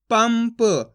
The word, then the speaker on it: पंप: तो मिलके बन जाएगा पंप अब दोस्त अपन ने इस शब्द के अंदर आधा मा का उच्चारण करा है देखो इसके अंदर भी